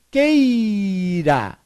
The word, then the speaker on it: queira: Mas tem uma mudancinha aqui para compor a pronúncia. Então fica que eu, isso, que eu queira.